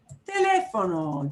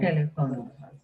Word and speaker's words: teléfono: Just know that if you see an accent mark, you punch that syllable. Teléfono.